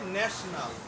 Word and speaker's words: national: যেমন আমরা লেখি NATIONAL, নেটি ও নাল, নেটি ও নাল, কিন্তু আমরা উচ্চারণটা করি, অর্থাৎ প্রমিত উচ্চারণ হবে ন্যাশনাল। ন্যাশনাল।